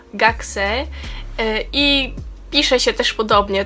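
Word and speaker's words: 学生: I teraz podam Wam taką ciekawostkę, ponieważ od słowa gakko jest słowo uczeń, który się wymawia gaksei i pisze się też podobnie, także to tak przy okazji.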